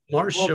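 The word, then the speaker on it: Marj Charlier: I'm going to mispronounce it terribly. Marge Chalier.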